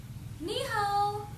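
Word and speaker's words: 你好: So, in Chinese, Chinese people say Nǐ hǎo.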